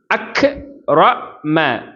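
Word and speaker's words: أكرم: அஃப்லஹ, அஃப்லஹ, அஃப்லஹ, அஃப்லஹ, அக்ரம, அக்ரம, அக்ரம, அக்ரம. ரா மட்டும்தான் தஃப்ஹீமுடைய வார்த்தை. இங்கே காஃபு ஹம்ஸுடைய வார்த்தை. அக் அப்படின்னு சொல்லும்போது காற்று வெளிப்படும், ரா அப்படின்னு சொல்லும்போது உயர்த்தி உச்சரிக்கணும், ம அப்படின்னு சொல்லும்போது தாழ்த்தி உச்சரிக்கணும். அப்போ அக் ர ம, அக்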